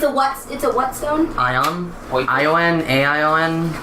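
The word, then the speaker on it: Ioun: I-O-N? A-I-O-N? I-O-U-N. Ion? So I think that's how they pronounce it.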